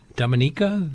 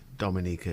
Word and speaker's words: Dominica: Kitts is it near is it Dominica the word we're where Jean Rhys was you'll get confused because of the Dominican Republic you know which has a different pronunciation and Dominica and often people in